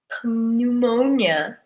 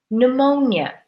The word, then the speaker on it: pneumonia: p is a disease we don't say pneumonia we sang pneumonia as if the P is not there the P is silent oh we see here